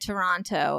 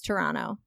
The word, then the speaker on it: Toronto: But well, the other day I said to Joe, I said Toronto, and he was like, it's Toronto. Like, and I was don't like, say the T, just Toronto.